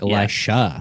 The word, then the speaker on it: Elisha: megan versus amigan where it's spelt the same but it's just said differently oh no it's one's an sh and one's a j oh like elisha elisha and elijah yeah